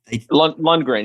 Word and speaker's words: Lundgren: And you tutored under, and is it Carl Lundgren? Did I pronounce it incorrectly, or Lundgren? Lundgren.